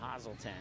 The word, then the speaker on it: Hazleton: down Hazleton positon that's how you say it Hazell 10 now back to the other side Grand Forks